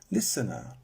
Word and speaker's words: listen: So surely we would double N, listener, but we don't.